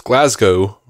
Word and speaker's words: Glasgow: but the fact you pronounce Glasgow right the first time so it rhymes with show and not cow strengthens my claim you